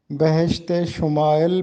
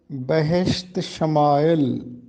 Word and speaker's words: بہشت شمائل: بتانا ہے بہشت شمائل۔ عام طور پر اس ترکیب کو بہشت شمائل پڑھا جاتا ہے، جو کہ درست نہیں ہے۔ درست ترکیب ہے بہشت شمائل۔ یہ ترکیب غالب نے